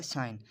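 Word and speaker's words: sign: सबसे पहले है साइन। अभी यहाँ पे देखिए जी जो है वो बीच में आ रहा है तो इसका जो करंट प्रोनाउंस होगा वो है साइन।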